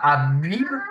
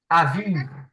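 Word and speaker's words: אביב: On ne dit pas Abib, mais on dit Aviv.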